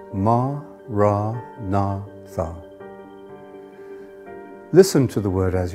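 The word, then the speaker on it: Maranatha: you choose that word say it as four syllables ma ra na Tha listen to the word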